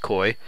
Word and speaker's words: koi: see then we got koi or Quai or I think I think they're pronounced koi I like how they're